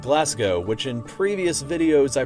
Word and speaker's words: Glasgow: Most cringeworthy of all include the cities of Leicester and Glasgow, which in previous videos I pronounced as Leicester and Glasgow.